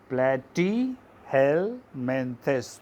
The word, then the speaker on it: Platyhelminthes: underline this term again see the name platy hell mentis we should know how to pronounce the name platyhelminthes so all the flatworms